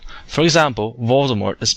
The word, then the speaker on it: Voldemort: Remember, the T is usually silent in French words when it's at the very end. For example, Voldemort is pronounced Voldemort.